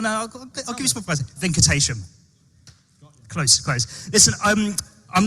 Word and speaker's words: Venkatesham: Venkatesham.